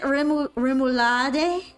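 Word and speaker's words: rémoulade: I believe you say it wrong. What is it? Remulad. Remulad.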